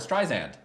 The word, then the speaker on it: Streisand: No, okay, so this was during the midpoint, and Tito said something about Barbara Streisand. And Sand. Barbara Streisand. Sand. You're Right. saying it wrong again after we cleared it.